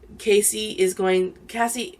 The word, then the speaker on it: Cassie: Cassie, I always called her Casey, but it's Cassie.